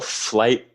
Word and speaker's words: Flite: Yeah, it's called a flight electric surfboard, and it's spelled FLITE.